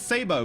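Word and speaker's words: sabot: It's Sabo because it's French. You don't pronounce the T.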